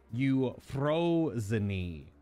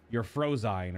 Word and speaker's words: Euphrosyne: how the name of this raid is called you froze knee but if you pronounce it in English it would be like you're frozeine or something like that or you're Frozen which